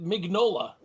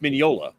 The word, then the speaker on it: Mignola: Mike migniola I know I always thought mignola it's Nick Nola right yeah you know it's it's Mineola Mineola yeah yeah it's Italian today I learned this